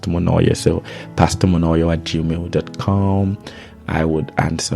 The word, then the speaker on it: Monoyer: Pastor, Pastor, Monoyer, Monoyo, or pronounced Monoyer.